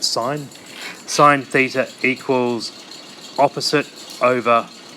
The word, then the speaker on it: sine: the first one is sine theta it looks like sin but we pronounce it sine sine theta equals opposite